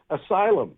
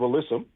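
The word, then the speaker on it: alyssum: Um asylum instead of alissum.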